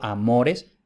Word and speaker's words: amores: Entonces, como la O es larga y está en la penúltima sílaba, eso hace que la penúltima sílaba sea la tónica, por tanto, amores es llana.